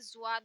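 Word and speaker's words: ض: और ये आता है, इस पे नुक्ता लगाते ही जुआद हो जाता है। एक बात याद रखिएगा, इसमें हम जिस चीज पर भी नुक्ता लगा रहे हैं, चाहे वो रा हो या जाल हो, वो आवाज जा की ही निकलती है यहाँ से।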